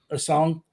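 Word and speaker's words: Essengue: How do you pronounce his name? A song.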